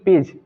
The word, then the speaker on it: page: अब अगला हम इसका मेथड देखते हैं कि अगर किसी वर्ड के अंत में जी ई आता है, यानी कि जी के बाद ई आता है वर्ड के लास्ट में, तो वहां पर हम जी का उच्चारण ज के रूप में करते हैं। एग्जाम्पल ले लेते हैं। PAGE, पेज, यानी कि GE लास्ट में आया है।